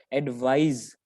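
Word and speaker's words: advise: तो दोनों की प्रोनाउंसिएशन में थोड़ा सा फर्क है. There is this slight difference, hairline difference between the pronunciation of these two words. तो पहले वाले को हम बोलते हैं एडवाइस, सर, एडवाइस, okay. And the second one इज एडवाइज. इसमें जो एस है वो ज की साउंड देता है, ज.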